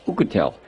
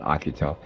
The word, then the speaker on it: Oukitel: found out by akutel I think it's pronounced who could tell I always call it Akita anyway I could tell